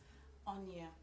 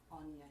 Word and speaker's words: Onyia: Oniya, Onyia. Oniya, you just say all the syllables.